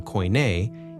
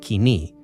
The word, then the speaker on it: Koine: process called dialect leveling Scholars have popularized the reconstructed ancient Greek pronunciation Co even though in modern Greek it sounds like Kini which is short foros